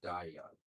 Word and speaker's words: Dahyun: Da- Dahyun. But in two syllables, so Dahyun.